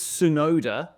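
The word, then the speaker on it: Tsunoda: much um I understand it's sonoda and it's a silent T but why is your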